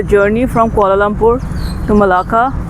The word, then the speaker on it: Malacca: The name it's Malacca, Malacca. Some also pronounce it as Melaka, Malacca.